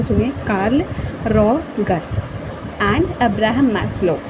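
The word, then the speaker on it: Maslow: Karl Rogers and Abraham मैस्लो। यहाँ पर मैस्लो में थोड़ी दिक्कत हो सकती है, तो मैस MAS लो LOW, सिंपल है ना।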